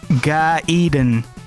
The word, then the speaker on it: Gaiden: crazy with Gaiden yes it's pronounced Gaiden to be more accurate it's guy Eden but I'm sure tons